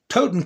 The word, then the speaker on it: Totenkopf: When he actually is on record as pronouncing it properly and bragging about it. Totenkopf, Koff.